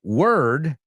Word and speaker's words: word: Now, the word word, como lleva una O, pero nunca se pronuncia con O. Si lo quites la palabra for ahí de la segunda, word, rima con bird.